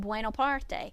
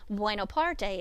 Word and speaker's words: Buonaparte: name was not Napoleon Bonaparte, it was Napoleon Buonaparte. And I don't know if you can hear the subtle difference in that, but Bonaparte is the French spelling and pronunciation of his name. Buonaparte is the Italian.